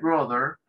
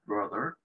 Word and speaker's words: brother: hermano, brother, mi hermano, brother. Los americanos casi que la pronuncian como una O, dicen brother, los americanos, porque abren más la boca cuando pronuncian la O.